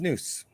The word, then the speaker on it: snus: So snus apparently is something that's pronounced snus.